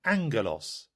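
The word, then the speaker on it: ἄγγελος: For instance, the double G in Greek had a special pronunciation. The word that looked like aggelos was really angelos.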